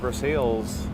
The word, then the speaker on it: Versailles: Ooh, people are asking why am I pronouncing Versailles like Versailles. I'm pronouncing it in Spanish because I assume the Cuban family that started it called it Versailles as